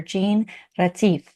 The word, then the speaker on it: Jeanne-Mari Retief: Jean Ratif. Hi, how are you? Good, thanks. And you? That was a great pronunciation.